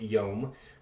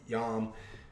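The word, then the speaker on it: יום: o sound okay so this is actually pronounced yom but a lot of people do pronounce and so that might be where he's getting this and pronouncing it with an a and maybe he doesn't since he doesn't can't read hebrew he doesn't understand what the actual pronunciation is or you know you know why people call it yam and so he translates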